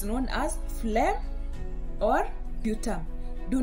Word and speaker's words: sputum: It's known as a sputum.